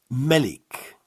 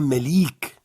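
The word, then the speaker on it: ملك: Alors, pour écrire un roi, ça se prononce Malik. Nous aurons besoin de la forme finale. Malik. Malik, c'est 3 lettres seulement. C'est pas Melik. Ce n'est pas Malik. C'est Malik.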